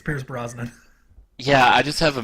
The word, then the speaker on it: Pierce Brosnan: Tracey's role was meant for Pierce Bronson am I'm mispronouncing his name again yes it's Pierce Brosnan yeah I just have